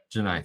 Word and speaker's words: Janai: Janai. Thank you. I I kept wanting to say Elgen. And that's not right.